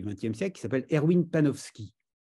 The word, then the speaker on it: Panofsky: siècle qui s'appelle Erwin penowski sans doute panopski s'écrit Panofsky panovski Erwin il a écrit beaucoup